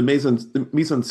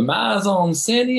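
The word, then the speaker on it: mise-en-scène: in a good spot yeah it's it's the meon Mison s is just very deliberate and he's building a lot of these sets excellent pronunciation of misen because often struggles with that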